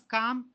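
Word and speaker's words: culm: And the next one, it is called as calm. Sir, L hai na, aap calm bol rahe. Calm, you have to pronounce. No. L is silent there.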